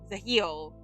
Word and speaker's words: Gilles: Now, the heel looks like Giles, but apparently it's pronounced Zahil and then Garnier.